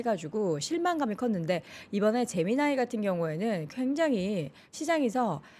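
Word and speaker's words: Gemini: 대표와 함께 소개해 드렸던 잼민이라고 소개해 드렸는데 그게 영어식 발음으로는 제미나이 이더라고요 제미나이 재미나죠 이름이 제미나이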